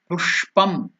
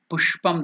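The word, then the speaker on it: पुष्पम्: So here it is the Murdhanya Sha. Pushpam, Pushpam, that is how it is to be pronounced.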